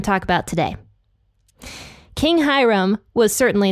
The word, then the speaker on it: Huram: last week when I was talking about King herum I made two mistakes actually the first being that I was pronouncing his name incorrectly which uh somebody who